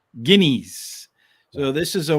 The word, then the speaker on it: Guineas: I always love trying to pronounce that because, when here, it's Guinness, right? But I don't know. How do they pronounce it? Guineas.